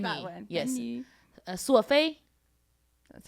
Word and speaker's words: 索菲: 索菲 That's how you say my name.